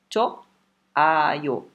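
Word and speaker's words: 좋아요: Cho, ayo. Choayo. Né? Choa. Choa. Certeza que vocês já escutaram isso. Tá? Só não esqueçam que esse H é mudo.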